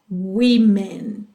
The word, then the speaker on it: women: Women, muda a pronúncia aí, tá? Woman, women.